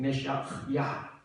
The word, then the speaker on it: 메시야: 기름 부음을 받은 자 정확한 발음으로는 메시야 이게 오직 하나님의 독생자